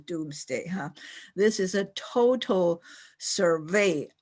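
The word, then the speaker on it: Domesday: At that time, it's spelled D-O-M-E-S instead of D-O-O-M-S, but it's still pronounced Doomsday.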